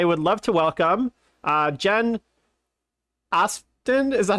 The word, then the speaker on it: Aspden: I was like, the P and the D together just really throw me off. So how do I pronounce it, Jen? Just you said it exactly right. It's Aspden. Aspden.